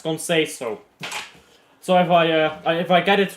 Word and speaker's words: Conceição: If Google Translate is correct, you pronounce it as Conceição.